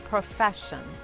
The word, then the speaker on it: profession: Por ejemplo, compassion, profession. En este caso, la primera S es muda y la segunda S junto con la I se pronuncia como la SH del inglés, como en la palabra shy, por ejemplo.